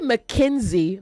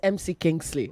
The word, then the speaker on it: McKinsey: So say McKinsey, not MC Kingsley.